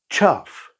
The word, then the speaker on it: chough: Can you pronounce these five unusual bird names? Let's go. Chuff.